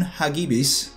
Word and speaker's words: Hagibis: It started full service a little bit at the end of last month in October, after Typhoon Hagibis, I believe that's how it's pronounced.